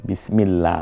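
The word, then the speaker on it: بسم الله: হচ্ছে বিসমিল্লাহ না বিসমিল্লাহ দেখুন বিসমিল্লাহ বারিক হবে আল্লাহ শব্দটা বারিক হবে এখানে আল্লাহ চমৎকার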